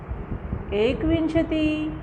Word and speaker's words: एकविंशतिः: फिर विंशति एकविंशति द्वाविंशति त्रयोविंशतिः चतुर्विंशतिः, है ना, सब में विसर्ग लगा है। एकविंशतिः द्वाविंशतिः ऐसे उच्चारण करेंगे, ठीक है।